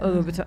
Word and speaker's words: Louboutin: Louboutin.